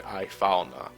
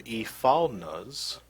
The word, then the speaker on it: Ifalna: I want to pronounce the I separately, Ifalna.